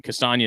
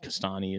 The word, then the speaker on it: Castagna: But yeah, I mean, Castagna is how it's pronounced proper, but Castani is how it's the U.S. pronunciation, I'm sure.